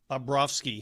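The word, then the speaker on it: Bobrovsky: Mosh, how did um Babrovski, is that the correct pronunciation?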